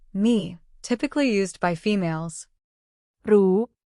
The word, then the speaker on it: รู้: In Thai pronunciation, the R sound often changes to an L sound in casual or everyday spoken language. This phenomenon occurs because the R sound, which is a trilled or rolled R, can be difficult or unnatural for some Thai speakers to produce in fast speech. As a result, they replace it with the easier, softer L sound.